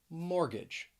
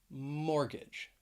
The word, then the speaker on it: mortgage: to the letter t a silent t that you will find in the middle of some words now i'm going to go over four words all of them have two syllables and the stress is on the first syllable so let's begin with